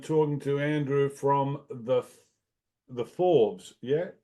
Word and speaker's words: Fauves: This is Dave from Amplify, and I am talking to Andrew from the Fauves. Yeah, how do you say Oh, it? Fauves. The Fauves, the Yeah.